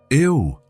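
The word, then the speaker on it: eau: Ew, Elena said. It looks strange, doesn't it? It's spelled E-A-U, but pronounced O.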